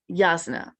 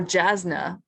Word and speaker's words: Jasna: Yasna. Oh, or Jasna, as I read it all those years, then heard the audiobook pronounce it differently.